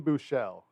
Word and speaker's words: Buechele: Obviously, they signed the SMU quarterback whose last name I can't pronounce yet. I did this. His first name is Shane. It's Shane Buechele. Yeah, I've watched them play it's enough Buechele.